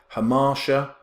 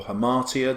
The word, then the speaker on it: hamartia: flaw of the hero Hammar sure or hamartia depending on how you pronounce it and the witches are